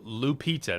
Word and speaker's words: Lupita: So, Lupita, that's how you say her name.